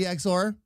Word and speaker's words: Exor: Is it actually supposed to be Exor? Is that how it's actually pronounced? That'll be the last time I pronounce it the wrong way. It is. Okay. Well, very good then. From now on, this big bald maniac will pronounce it exor.